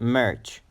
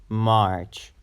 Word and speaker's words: March: Marge so it's not merch March you have to pronounce it a bit longer March March okay now